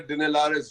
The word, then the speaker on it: Dinelaris: Is that the way to pronounce it, Pawan? Alexander Dinelaris Jr.